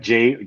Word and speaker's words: Zhang: John, like Zhang. JOHN. Zhang, okay.